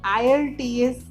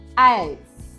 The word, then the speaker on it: IELTS: International English language testing system, और इसे लोग IELTS भी बोलते हैं, लेकिन इसको IELTS नहीं, इसका सही प्रोनाउंसिएशन है IELTS। वैसे ब्रिटिश काउंसिल ने भी इसे IELTS करके बोला हुआ है।